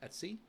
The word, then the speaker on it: etc: So it's etc which is pronounced Etsy.